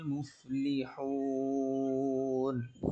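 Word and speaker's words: مفلحون: রব্বিহিম ওয়া উলাইকা হুমুল মুফলিহুন। এখানের ভিতরে মুফলিহুন এটা হা হবে, আপনি অনেকটা মিমের মতো উচ্চারণ করেন, সেই মিমটা আসবে না। ঠিক আছে, এটাও খেয়াল করে পড়ে আসবেন এই জায়গাটা।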